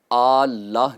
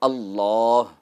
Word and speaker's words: اللہ: کو شامل کریں گے۔ پہلی غلطی یہ ہے کہ لفظ اللہ کو اللہ کہہ کر پڑھنا، یعنی صحیح جو تلفظ ہے وہ ہے اللہ۔ یہاں اس میں جلالت میں لام مشدد بھی ہے اور اس کے اوپر کھڑا زبر بھی ہوگا، تو اس کو 2